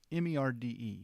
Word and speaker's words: merde: It's a French word. It's M-E-R-D-E, merde, merde.